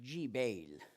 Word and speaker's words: Gebal: Aujourd'hui, on prononce aussi Jibal en arabe.